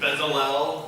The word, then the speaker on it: Bezalel: Next is this gentleman, Dallas, I can't remember how to pronounce his name. Bezalel.